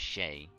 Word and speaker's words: Chet: Well, the E sounds like an A, so you know it'd be Shay. His name is Shay. C-H-E-T. Shay. You gotta pronounce it like kind of almost like share, but with a T.